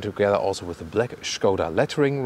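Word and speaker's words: Škoda: By the way, when I say Skoda, it's closer to the original Czech pronunciation. You know that in English-speaking countries you always hear Skoda, for example, but as a tribute to the origin of this vehicle, we stay with Skoda.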